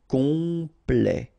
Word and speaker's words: complet: s is not pronounc and then complet ok here at the end will open it open sorry the sound of the e ok pl comp complet compl complet à temps complet à temps complet furieux ok x not